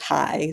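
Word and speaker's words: חי: For anyone in your Jewish audience, Chai is a mystical word in Hebrew that means life or whatever. So, and it can be pronounced just High.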